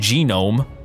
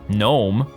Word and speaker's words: gnome: pronounce it like gnome there's a g in there you don't say gnome that's a whole different word but gnome as in the little